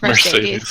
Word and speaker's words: Mercedes: It's Mercedes. Like it's just like the car. Like just say it like it's Mercedes.